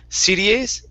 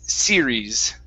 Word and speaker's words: series: okay next up is the word series instead of cdas it's series series okay very good uh